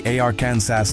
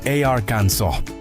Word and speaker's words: Arkansas: You walk into a store in Arkansas and ask the cashier, "Hey, do you have any Arcan SAS t-shirts?" Boom. You just broke the law. The correct pronunciation is arans and the state takes it so seriously that mispronouncing it is technically a finable offense.